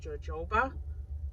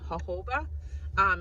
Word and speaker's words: jojoba: I pronounced it as jojoba, and she made sure that she let me know that it was jojoba, not pronounced with the J, because the English language